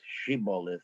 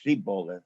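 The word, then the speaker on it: shibboleth: the book of judges the poor aphromites couldn't pronounce shibolith or shiboilus and said siboleth and got themselves killed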